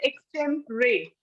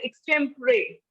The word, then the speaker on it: extempore: of this word is extemporary it is written as Extreme Code while writing it is written as extempore but the pronunciation is extemporary extemporary is it clear